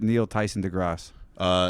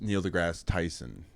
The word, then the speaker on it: Neil deGrasse Tyson: Or is it Neil Tyson deGrasse? It's Neil deGrasse Tyson.